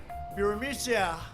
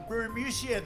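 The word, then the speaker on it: Burisma: with the burmese executives so this uh buremisia bermucia they say pronounce it borisia a real beautiful company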